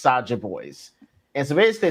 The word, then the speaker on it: Saja Boys: Soja Boys? Yes, it's like Soda Boys, but it's pronounced Saja Boys.